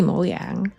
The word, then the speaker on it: Mojang: pronounce it this is this is Swedish so it has to be moang but I think the